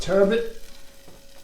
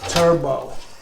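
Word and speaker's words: turbot: This is our wild caught turbet. And by the way, I had to look that up. You know me, I always mispronounce. I've always called it turbo like the car engine.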